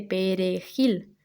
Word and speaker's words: perejil: Pues porque los haitianos que hablaban francés criollo no podían ni pronunciar la J, por supuesto, ni sobre todo la R suave, la R de perejil, porque ellos pronunciarían la R francesa de acheter, esa R, ¿no? Más de la garganta.